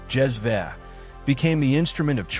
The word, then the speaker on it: cezve: A small, long-handled pot called a cezve, pronounced "jez-veh", became the instrument of choice across the Middle East and North Africa.